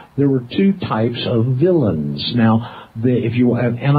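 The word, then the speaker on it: villein: Law Dictionary it's spelled it has an unusual spelling because it's French in origin but we say it villain it's spelled v i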